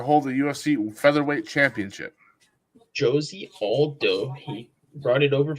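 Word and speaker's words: José: Josie Aldo. He brought it over from the WEC. Josie? Is that how you say it, actually? Mm-hmm. Yeah. It's not Jose.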